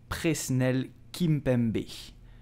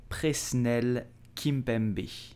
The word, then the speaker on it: Presnel Kimpembe: So, how do you pronounce his name? You will say Presnel Kimpembe. Presnel Kimpembe. I repeat slowly. Presnel Kimpembe.